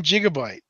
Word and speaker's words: gigabyte: Soft G. Gigabyte.